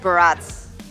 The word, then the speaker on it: Barats: Yeah, but going back to the previous topic, Barats. Barats. Barats. Wait, Barats rhymes with but but strats, right?